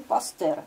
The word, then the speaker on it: Пастер: болезней по методу вы пастера на самом деле он пастер но просто нам произносить так не очень удобно создает в пастер свой